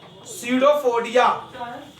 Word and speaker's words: pseudopodia: Amoeba इगिस्ट, ingest, ingest लेते हैं खाना, food, food, ingest food by the using its pseudopodia, by the pseudopodia। आप P से लिखोगे स्पेलिंग, P साइलेंट रहता है, pseudopodia स्पेलिंग होती है PSEUDOPODIA।